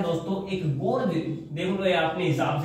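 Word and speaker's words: gorge: आता है दोस्तों एक गोर्ज देखलो अपने हिसाब से गोर्ज होता है गज होता है स्पेलिंग जी ओ आर जीई इसका मतलब ये है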